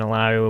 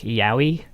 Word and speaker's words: Illaoi: oh she's gonna be it's gonna be pronounced like uh what was it like yowie yeah i thought it was a double handled like in spanish like a like a y for a double l and that i mean